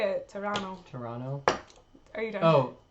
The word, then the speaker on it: Toronto: I didn't know Toronto rhymes with Verano, but I guess it does. Toronto. Toronto? That's how you say it. Toronto.